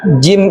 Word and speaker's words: jim: Satu lagi yang saya tambahkan, huruf jim ini juga sering kesalahan membacanya seperti huruf za. Iya, betul. Z. Kalau Jim dia tidak berdesis yang seperti saya katakan desis apa? Desis le le lebah. Kalau jim tidak ada desis.